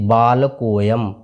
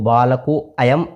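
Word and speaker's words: बालकोऽयम्: इसको बोला जाता है जैसे बाल कोयम इसको बालको अयम इस तरह से नहीं पढ़ना है बाल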